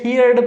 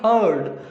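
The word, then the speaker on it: heard: हर्ड, इसे कई सारे स्टूडेंट हियर्ड पढ़ते हैं, इसको पढ़ेंगे हर्ड। और वैसे र साइलेंट होता है तो हर्ड मीन्स सुना या सुनी।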